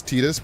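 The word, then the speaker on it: Tidus: Square says the pronunciation is Tetus because his Japanese pronunciation is TA.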